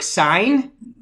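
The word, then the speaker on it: Saenz: then it'll have sign looks like sounds like stop sign but it's spelt s-a-e-n-z and then michelle klein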